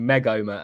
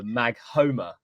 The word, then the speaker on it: Maghoma: The other one in that comment was because you're separating Megoma and Magoma with a Maghoma, like a you're really getting that H out, aren't you?